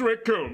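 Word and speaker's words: Recoome: want to go like the names raccoon it rhymes with doom yeah I didn't want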